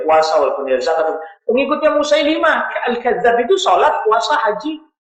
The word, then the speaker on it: Musailimah: orang-orang yang meyakini bahwa Musailimah, orang kita yang bacanya Musailamah, Musailimah Al-Kadzab sebagai nabi.